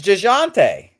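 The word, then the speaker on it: Dejounte: time well you because i don't pronounce the j you're it's jashante ah to you other people his parents i mean i don't know uh you guys pronouncing the j is not the way everybody i mean you're not i don't know you should pronounce my name with the j all right oh okay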